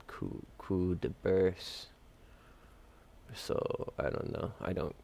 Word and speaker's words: Coup de Burst: Some guys say Coup Burst for Frankie, but it's called Coup de Burst.